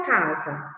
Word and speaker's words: casa: Vamos pronuncie aí da sua casa. Fale alto, em voz alta, a palavra casa. Vamos lá. Casa. Novamente. Casa. Observe que a sílaba za, quando eu falo casa, tem o som de Z.